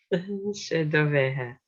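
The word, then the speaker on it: 's e do bheatha: She doveha. You're welcome. Yeah, that's it. Okay, so we've got this VH from V and TH as H.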